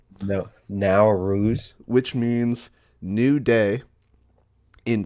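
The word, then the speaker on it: Nowruz: n o w r u z is how it's spelled now r no now ruse which means new day in Persian starts uh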